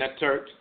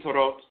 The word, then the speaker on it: Ntorot: Ntorot, mispronounced Netter and Netert, but the Ntoro and Ntorot, the male and female deities of divine wisdom, Tehuti and Seshat.